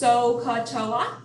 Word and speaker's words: SOHCAHTOA: and you'll start remembering it so so it's pronounced sohcahtoa it's a nice easy matter to memorize those